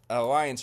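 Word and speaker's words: Allianz: in The Alliance Arena Alliance Arena that's how they say it although they spell it a l l i a n z instead of the C at the end and that's the home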